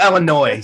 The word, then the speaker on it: Illinois: So Illinois, so that you don't pronounce the S.